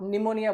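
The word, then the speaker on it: pneumonia: Request sentence है और silent letter of ये साइलेंट लेटर इन वर्ड जैसे आप निमोनिया बोलते हो पी साइलेंट रहता है।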